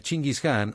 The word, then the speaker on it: Chingis Khan: La pronunciación original de su nombre en español moderno sería Chingis Khan o Genghis Khan.